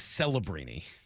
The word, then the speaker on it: Celebrini: San Jose, and you get to see Macklin Celebrini, their young player, who's really, really good. That is everything you need to know. Any relation to Enum Claw's Brian Scalabrine? It's Celebrini.